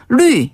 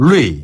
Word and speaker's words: 绿: 초록색을 뜻하는 단어, 루이. 네. 요게 이제 푸를 녹자를 루이라고 발음하는데요. 루이. 네. 요 루이 자는 위에서 아래로 뚝 떨어지는 발음이거든요.